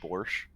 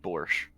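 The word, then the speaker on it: borscht: can make a good borch uh in Russia not very I said a good borch oh thought it was borch you can't you can't hear me pronouncing the T look if if if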